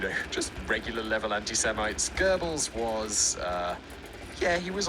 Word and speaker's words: Goebbels: gonna screw it up it's spelt goggles but it's it's goebbels i know that's not the german pronunciation but it's the accepted english language pronunciation girdles anyway classic goebbels